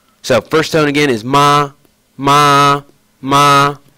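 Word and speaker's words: 妈: So the first, we'll take something, just a simple word, ma, ma. So that's M-A, ma. And it's pronounced with the first tone. So my voice is doing that. Just simple, just standard monotone. Ma.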